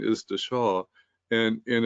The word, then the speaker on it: Dasha: able to catch myself the Sanskrit is actually pronounced the saw um The Shaw so um you know